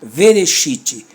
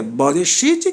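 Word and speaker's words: בְּרֵאשִׁית: Não pode ser vereshit e nem vará. Aqui é boreshit e é bará. Essa é a pronúncia.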